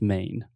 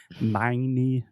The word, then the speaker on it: Maine: in e in English we don't pronounce the E the E is silent so just main main exactly I don't want to hear any of our students saying my knee or anything like that